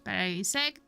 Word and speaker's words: Parasect: Parasect. The mushroom. The mushroom guy. Parasect.